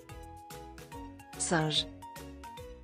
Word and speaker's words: singe: Like sunch, which means monkey. As you can see here, the letter I is pronounced like as A, and we will get the logic of this in the future videos, okay?